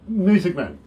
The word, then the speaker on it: Muessigmann: music man i i i did get that writer haven't i a music man yep i haven't mispronounced that in any way nope that's not bad i never yelled telemarketers